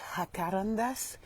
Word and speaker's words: jacaranda: Ça se dit jacarandas mais ça s'écrit jacaranda.